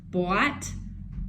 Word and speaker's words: boat: So when two vowels are next to each other, that's a vowel pair. The second vowel is silent, and the first vowel is the long sound.